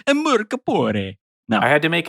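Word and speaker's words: Mörk Borg: It's Mork Borg. It's not Mork Borg. Listen, we need to make our Swedish overlords happy. It's Mork Borg.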